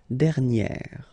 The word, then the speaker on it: dernière: And you will get dernière. All right, so keep in mind that you should put this accent grave, and then you pronounce it like e, okay?